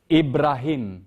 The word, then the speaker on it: Ibrahim: Heart, yes, but how do you say Abraham? Any Arabic speaking? Ibrahim. Yeah. That's Ibrahim.